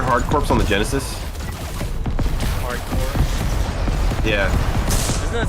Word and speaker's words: Hard Corps: Corps on the Genesis hardcore yeah doesn't that sound better why are you say hardcore because that sounds actually spelled yeah cuz you don't pronounce the P why is there a